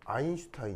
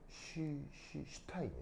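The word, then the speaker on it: Einstein: 일석 우리나라말로 일석 독일어로 아인슈타인 있니다 독일어로 아인이 뭐예요 아 1이에요 하나 하나 이게 이거 발음 할 때 어떻게 되냐면 그냥가 아니고요 독일어에서면가 쉬 발입니다 쉬쉬쉬 그래서 스타인이 아니고 슈타인이 슈타인 알겠죠 그래 아인슈타인 그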